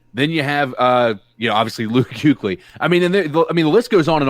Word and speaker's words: Kuechly: Yes, Kuechly. What's the U in there? No, you're saying you. You don't pronounce the U. Chat, back me up on this. Come on, man. Luke Kuechly. There's no U there.